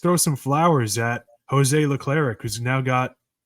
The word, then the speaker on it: Leclerc: Leclerc, who's now got, I always say this guy's name wrong. Leclerc. Leclerc? Leclerc. Okay. Something. There's no I in there, and it's throwing me off because I feel like there should be.